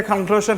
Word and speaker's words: conclusion: ওদের উচ্চারণের মধ্যে এই দুটোটার মাঝামাঝি একটা সাউন্ড আসে, সেটা হচ্ছে Shane, জফলা। Okay, so we'd like to make the conclusion for today's class and wrap up the class right now.